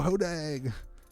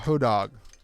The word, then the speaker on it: hodag: meta zoo crowd oh hodag i get yelled at for mispronouncing hodeg all the time i call it hoe dog but i like hodog better than hodag and i like pizza